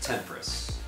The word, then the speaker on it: Temporis: Actually, it's pronounced Temporis. I think it's Latin.